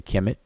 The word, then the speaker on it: Kemet: transliteration, and as a consequence in pronunciation, today's pronunciation, that is. So for this one we say Kemet, and for this one we say Kemet.